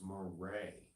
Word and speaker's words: Moret: My last name is Moret, pronounced Moret.